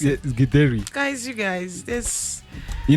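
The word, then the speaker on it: githeri: Is that Gideri or what do you pronounce it? Yes, Gideri.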